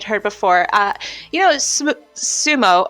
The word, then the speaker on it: sumo: before uh you know Sumo or Smo as it's actually pronounced here Sumo that women aren't allowed